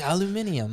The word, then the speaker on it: aluminium: And he's like, "Aluminium." Aluminium. Yeah, I heard you're British there in Yeah. that pronunciation of aluminum, bud.